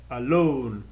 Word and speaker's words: alone: O alone, ele já é uma exceção, porque ele não é alone, ele é alone, alone, alone. Ele tem duas sílabas, mas a sílaba tônica é a última, alone, alone.